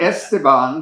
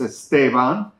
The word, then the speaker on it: Esteban: It's not Esteban, like everybody says, it's Esteban.